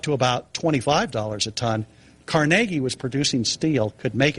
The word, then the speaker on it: Carnegie: have heard of Andrew Carnegie. Started Carnegie Steel. Yeah, he pronounces it Carnegie, so we'll go with, we can say Carnegie if you want, but he pronounced it Carnegie.